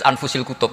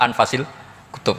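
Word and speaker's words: أنفس الكتب: saya samput bacaan Saya di sini ditulis anfusil kutub saya baca anfasil kutub karena maknanya kitab ter baik Kalau kitab terbaik bacanya bukan anfus tapi apa anfas ya nanti kamu debat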